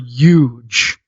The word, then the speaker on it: huge: of the word huge there's no silent h in the word huge hey dude list what